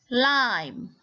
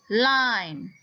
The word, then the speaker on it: lime: Next word, lime. Lime. Okay, bukan lim. This is lime. The magic E at the end makes the I say its name.